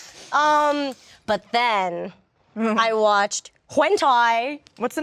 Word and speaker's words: hentai: But then I watched hentai. What's the name? How do you spell that?